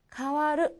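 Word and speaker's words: 変わる: 그리고 원어인 일본어 발음 으로 읽으면 … 두 가지 방식 으로 읽힙니다 . 먼저 , " 카와루 " 라고 읽습니다 .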